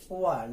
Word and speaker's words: one: the word one or this word pronounced as one like w and so we have